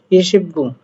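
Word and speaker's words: 이십구: আর 9 কে বলা হয় খু, বাট এখানে উচ্চারণ হবে গু। ইশিবগু। তাহলে ইশিবগু শব্দের অর্থ হচ্ছে 29, আর গোয়া লাগাবেন সাথে, গোয়া মানে অধ্যায়, 29 নম্বর অধ্যায়।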